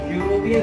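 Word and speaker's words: European: अगर इसका प्रोनाउंसिएशन, उच्चारण लिखेंगे तो यूरोपियन लिखेंगे, आप यूरोपियन लिखेंगे, जो कि एक व्यंजन या कॉन्सोनेंट हो सकता है, ठीक है।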